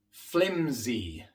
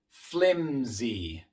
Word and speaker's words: flimsy: Flimsy. Flimsy. En esta palabra la S viene después de una M, una consonante sonora, y por eso la S también se pronuncia de forma sonora.